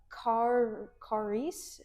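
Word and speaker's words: χάρις: It's kind of um I'm going to mispronounce it really bad again. Uh charis, I think is how you say it.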